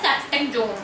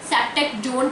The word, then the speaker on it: Ceftriaxone: Injection लगाता है बुखार तोड़ने का, वो है सेफ्टेकजोन। सेफ्टेकजोन की स्पेलिंग होती है फ्रेंड्स, ये आप पर्ची देख सकते हैं।